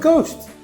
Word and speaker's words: ghost: The word ghost also contains a silent letter. It has a silent H.